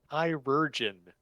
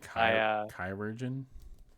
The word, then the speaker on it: chirurgeon: Yeah, Wales says call it surgeon, but it is pronounced with a hard K. So yeah, hard K sound.